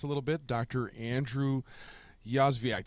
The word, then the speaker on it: Yozviak: Andrew Yozviak. Did I say it right? Yozviak. Yo. We're good. Oh, not ya.